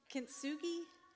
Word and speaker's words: Kintsugi: Kintsugi? Kintsugi, I think that's how it's spelt, but I'm probably not pronouncing it correctly.